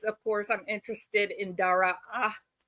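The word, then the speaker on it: Daraa: It's an extra A, but you cut it off like half in the middle.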